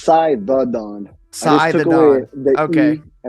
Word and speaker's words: Cythadon: How do you pronounce it no, fully? so it's Cythadon.